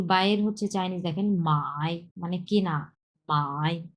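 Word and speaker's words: 买: বাইর হচ্ছে চাইনিজ দেখেন মাই মানে কেনা বাই তিন number ton properly V shape উচ্চারণ করতে হবে এই ভিটা এই মাঝখানের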